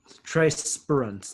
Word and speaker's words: Spruance: Trey Spruance. Trey Spruance, thank you.